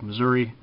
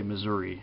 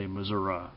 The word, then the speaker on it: Missouri: a healthy rivalry with Missouri uh that's how they say it in that state is Missour you don't say Missouri if you're from Missouri you say Missoura kind of like if